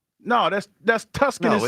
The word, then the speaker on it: Tucson: While we're here, since we're here, you know, Tucson is not Tucson. It's Tuskin. Tucson.